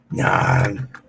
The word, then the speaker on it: Narn: Narn. You have to say it like that.